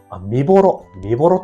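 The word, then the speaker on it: 御母衣: だから結構ね、見どころとしては、見ぼろって読むみたいですよ。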